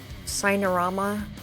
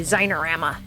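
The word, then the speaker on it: Xinerama: in M player and Cinerama, Cinema. Hi, Biatco. I want to say Zinerama. I know. Zine. Yeah, it's supposedly pronounced Cine. It's supposed to be like cinema, but with an X.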